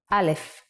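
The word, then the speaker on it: אלף: with the first letter alef what sound does aleph make in Hebrew the name of each letter starts with a sound you use to pronounce it which means the sound of aleph is ah it is handwritten like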